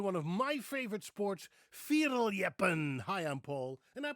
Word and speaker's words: fierljeppen: Today I'm going to introduce you to one of my favorite sports, firin. Hi, I'm Paul and I pronounce Dutch words and names the way a Dutchman would pronounce them.